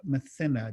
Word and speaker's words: Mathina: a young Aboriginal girl, Mathina. Did I pronounce that right? Is that? That's the way I pronounce it too.